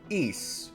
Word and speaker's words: Ys: The Legend of Heroes Trails series and East, which is spelled Ys.